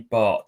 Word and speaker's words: Batth: Some people call him Danny Bath because it's spelled Batth, but he was on loan at Colchester when I was covering them, and he was at pains to tell me it's Danny Bart.